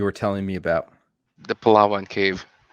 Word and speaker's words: Palawan: the world you were telling me about the palawan cave how do you say it palawa palawan yeah palawan yes that's it have you been